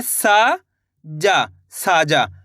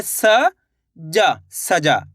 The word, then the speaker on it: सजा: स को खींच के पढ़ देते हैं। कैसे? सा ज सा। तो दोस्तों इस तरीके से नहीं पढ़ाया जाता। कैसे पढ़ाना है? स यानी कि कम खींच के उच्चारण करना है। पहले से आपको उच्चारण पे ध्यान देना है। स ज सजा। इस तरीके से हो गया क्लियर?